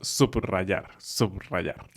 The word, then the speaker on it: subrayar: De hecho, es bastante fuerte. También después de sub, este prefijo que utilizamos mucho. Por ejemplo, la palabra subrayar.